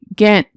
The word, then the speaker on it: Ghent: G, Ghent. Ghent is a city in northwestern Belgium.